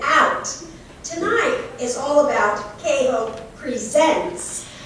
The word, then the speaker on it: KHOPE: tonight is all about cajo presents the accent's on the second syllable because it's a verb leave it to you